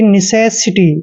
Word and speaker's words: necessity: दोस्तों एन का उच्चारण हम न करते हैं, ई को छोटी की मात्रा पढ़ते हैं, और सी का उच्चारण से करेंगे यहाँ पर, और ई को ए की मात्रा पढ़ेंगे। S का उच्चारण से करेंगे, आई को छोटी की मात्रा पढ़ते हैं, और TY को टी लिखते हैं, यानी कि निसेसिटी।